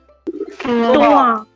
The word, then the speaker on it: toi: Now, the pronunciation in this case would be wa. Wa. No nasal, simple wa. For example, if I tell you the pronunciation, ask you the pronunciation of this particular word. Toa.